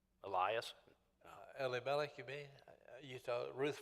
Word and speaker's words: Elimelech: Yeah, we usually pronounce it Elimelech, but it's Elimelech.